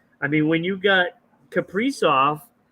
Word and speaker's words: Kaprizov: Obviously, we know about some of their, top players here and what they've done in Kasperzov, Kaprizov. I always say his name wrong.